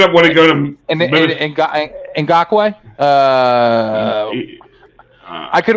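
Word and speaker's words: Ngakoue: I just cannot pronounce it right now. Ngakwe. Yeah, Ngakwe.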